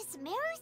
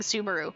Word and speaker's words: Sumeru: be to head to Sumeru City and find a way to meet with Lesser Lord Kusanali. That is not the way that we've been pronouncing Sumeru. Sumeru, apparently.